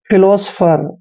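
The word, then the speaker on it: philosopher: पर स करते हैं पी एच को हमने फिर से फ पढ़ना है ई आर को र पढ़ते हैं फिलोसोफर फिलोसोफर होता है दोस्तों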